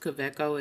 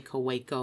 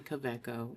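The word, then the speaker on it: Kaweco: And it is pronounced quecco. It's German. It's K A W E C O. So, the W is a V. Just so people know cuz some people say KCO or whatever. It's actually Coco.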